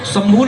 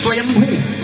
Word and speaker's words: स्वयंभू: शंभू बोलते हैं ना सुनो शंभू नहीं स्वयंभू सही उच्चारण है संभव तो हम गलत बोलते हैं स्वयंभू और स्वयंभू